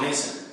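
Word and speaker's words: Maison: spelled um the french house meson but it's pronounced mason so confusing and middle name marie thank you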